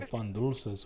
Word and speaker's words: pan dulce: Let me see those little pan dulces, way. Let me see them. Also, it's pronounced pan dulce with a du.